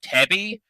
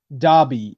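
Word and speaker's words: Dabi: Except a dude called Tabby, who looks like a fucking half-shrunken mummy that can shoot out blue flames. Yeah, Dobby, I think his name's pronounced.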